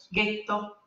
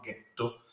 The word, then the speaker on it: ghetto: Gli ebrei ashkenaziti dell'Europa centrale non conoscono le consonanti morbide, per cui non pronunciavano getto, ma pronunciavano ghetto, e quindi la parola poi è venuta fuori da là.